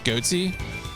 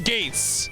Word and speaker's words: Gates: So every time I look at the back of the box, I think this guy's name is Goatsy. His name is Gates.